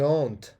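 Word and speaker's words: honte: ژې هونت دغه اچ نه ویلی کېږي.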